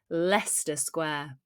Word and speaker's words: Leicester Square: She met her friend at the tube station near, remember this one from one of our recent shorts, how it's pronounced? Leicester Square.